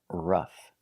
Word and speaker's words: rough: Next we have rough. Again, OU is not making the sound ow, it's making the short sound rough, rough.